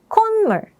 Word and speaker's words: 콧물: together, as I mentioned, the 시옷 is not pronounced like a T, but rather like an N.